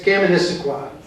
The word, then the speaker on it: Kaministiquia: And on the Kaministiquia, which is this boat here, it's Kaministiquia. Try to spell that, or say it when you're drunk.